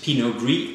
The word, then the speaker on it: Pinot Gris: but they're actually not they are the same variety just different pronunciations of it pinot gris is the French pronunciation in a ratio of the Italian pronunciation he knows that the